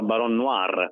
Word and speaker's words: Baron Noir: Allora, intanto si pronuncia baron noir, noir, cioè noir nero in francese, quindi baron noir e